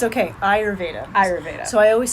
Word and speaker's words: Ayurveda: something I always mix up too it's okay Ayurveda Ayurvedic so I always spell it phonetically when I introduce it to people